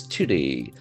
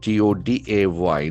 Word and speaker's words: today: Today the accent falls on the second syllable.